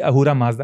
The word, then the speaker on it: Ahura Mazda: begins from there, because it's actually Asura Mazda, because they don't have the word. As I said, Sindhu becomes Hindu. Mm. The name comes from Persia, yeah, because the river Sindhu, they could not pronounce the S, so they changed it to H.